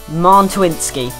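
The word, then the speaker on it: Mączyński: And we have the final centre mid here, Krzysztof Mantuinski. That is how you pronounce his name.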